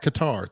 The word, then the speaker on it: Qatar: group a is is it cutter is that how you pronounce guitar qatar thank you ecuador senegal and